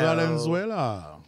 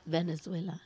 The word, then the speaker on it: Valenzuela: No, it's Valenzuela. Yeah, like Fernando Valenzuela.